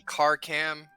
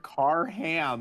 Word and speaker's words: Karkam: It is a K. It is KARKAM. Carcam. Gotcha. Thank you. Okay. I was like, I heard car ham, and I'm like, what?